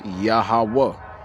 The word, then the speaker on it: Yahawah: So you would add the yah to it. That's the smallest letter of the Hebrew alphabet. All right. Yah. And then the next letter is ha. And then these two letters right here when you put it together is hawa. When you put it all together is Yahawah.